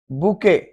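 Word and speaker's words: bouquet: बुके, बुके, बुके, T silent है, गुलदस्ता, बुके।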